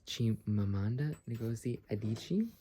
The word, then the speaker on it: Chimamanda Ngozi Adichie: And then this is Unit 1, Identity and Self-Discovery, and I don't know how to pronounce her name, so forgive me, but I think it's Chimamanda Ngozi Adichie, sorry.